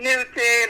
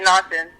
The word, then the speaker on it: Naughton: I get Newton, I get Norton, but Naughton, yes, it is pretty unique, but you pronounced it correctly.